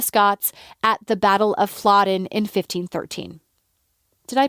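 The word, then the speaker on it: Flodden: victory over the Scots at the Battle of flodin in 1513 did I pronounce that right YouTube says fladen yes I think it's interesting to note here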